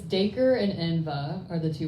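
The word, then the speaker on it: Dacre: I'm Southern but I saw it as daker like acre with a d tapped on but you know I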